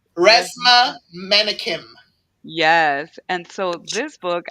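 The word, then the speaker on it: Resmaa Menakem: if you can pronounce the author's name, it's Resma Menakim.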